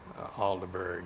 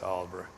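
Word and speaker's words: Aldeburgh: own place in Auburn alderberg it looks like it's spelled it's Oliver yeah Benjamin Britton had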